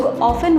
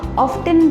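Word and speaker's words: often: हम में से बहुत लोग ऑफन वर्ड को ऑफ्टन भी प्रोनाउंस करते हैं। वेल, दोनों ही सही प्रोनाउंसिएशन है।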